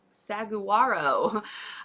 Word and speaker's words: Saguaro: help everybody know um how to say the word Saro if you were to see it it is spelled s a g u a o and most people when I ask and I show them that word without saying it first it's sag Saguaro um or saguero it's saaro the G